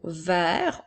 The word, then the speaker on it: vert: Alors, nous avions ici le mot vert au masculin, donc c'est pour ça que la lettre T ne se prononçait pas.